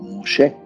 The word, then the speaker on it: Moshe: Obviamente que está haciendo referencia a la ley que llegó por medio de Moisés, o Moshe, como se pronuncia su nombre hebraico.